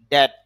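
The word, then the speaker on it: death: মত হবে ডিয়ার প্রিয় ডেথ ডেথ মানে শেষর মত হবে ডেথ মৃত মৃত্যু এখানে খেয়াল করেন ডি ই এড টি এইচ ডেথ আর আইপিতে বানান করলে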